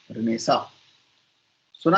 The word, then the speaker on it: Renaissance: रेनेसांस या रेनेसा, पुनर्जागरण हिंदी में बोलते हैं। ये मैंने स्पेलिंग लिख दी है, RENAISSANCE, रेनेसा, रेनेसेंस, कुछ भी बोल सकते हैं, जो आपके जुबान पे चढ़ जाए वो ठीक है।